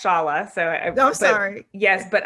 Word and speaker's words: Shola: uh yes so um my name is pronounced shala so i'm sorry yes